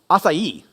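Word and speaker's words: açaí: it's that like Barry bow thing it's actually pronounced asai oh you learned something today don't tell anyone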